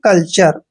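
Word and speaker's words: culture: इसलिए इसको पढ़ेंगे हम कल्चर कल्चर क्या होता है कल्चर होता है संस्कृति होता है अपनी तो कल्चर ध्यान रखिए टी के बाद यू आर ई आए तो टी का उच्चारण च करना है जैसे एन ए टी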